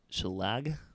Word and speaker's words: shillelagh: Shillelagh. I feel like there should be another vowel in there if we're going to call it a shillelagh.